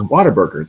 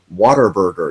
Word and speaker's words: Whataburger: out loud I'm like water burger even though people you know see it's spelled with what wn8 burger it's what a burger but people say water burger and as a child